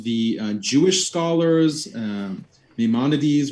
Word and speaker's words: Maimonides: uh jewish scholars um maimonides which i've been pronouncing as maymanites this whole time they all agree that